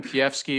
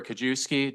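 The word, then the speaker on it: Kijewski: Kiefsky or Kajewski, doesn't really matter how you say it. It's spelled K-I-J-E-W-S-K-I. It's complicated in Polish.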